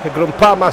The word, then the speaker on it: Groupama: C'est le stade, le grand stade de Lyon, le stade Groupama. Yeah, Groupama, as the French say.